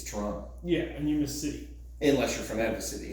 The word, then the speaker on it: Toronto: to run you know pronounced the second T it's Toronto yeah and you miss